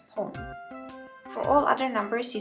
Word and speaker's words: 本: For the numbers 1, 6, 8, and 10, you want to pronounce this as pon.